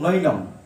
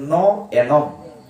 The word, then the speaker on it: ন এনম: কি পড়বো আমরা, প্রভু নৈনম, লেখা অনুযায়ী নৈনম, অর্থ বোঝা যাবে না। এটার প্রকৃত উচ্চারণ হচ্ছে ন এনম, না আমাকে।